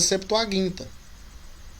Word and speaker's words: septuaginta: errado tá não não e partindo do pressuposto que é uma palavra grega né a pronúncia correta é septuaginta o tema até então